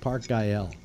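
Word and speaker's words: Güell: Park Gael. Oh, Gael. Yeah. Yeah, that's how it's pronounced.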